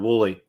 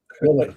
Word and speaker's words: Woolley: Pronounced exactly how it's spelled. Woolley. Woolley.